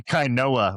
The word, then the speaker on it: Kainoa: He's like, it's actually Kainoa. And be like, yeah, but Kano Winston is sick.